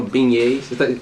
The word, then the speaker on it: beignets: Unfortunately, we didn't try no beignets.